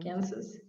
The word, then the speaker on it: Kansas: There is another state called Kansas. The spelling looks almost the same. Almost the same. Kansas. But you do say the S. We do. Kansas? We do. Kansas.